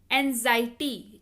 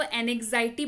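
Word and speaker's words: anxiety: पे बता रही हूँ, इसको एनेक्साइटी बहुत जगहों पे पढ़ा जाता है या आपको बताया जाता है, but that's not true, it's एंजाइटी। आप इसको एनेक्साइटी नहीं पढ़िएगा प्लीज, आप इसको एंजाइटी पढ़िए, जिसका मतलब होता है चिंता, व्यग्रता या फिक्र।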